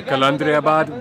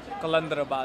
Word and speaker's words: Qalandarabad: Okay, so we've made it to Qalandarabad.